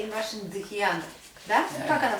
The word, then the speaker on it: dhyana: is called dhyana. Дхьяна. Dhyana. Дхьяна. Дьяна. We say in Russian дхьяна. Да? Да. Как она произносится правильно? Дхьяна.